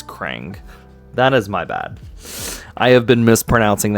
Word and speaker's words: Krang: I've been saying Kang, by the way. It's Crang.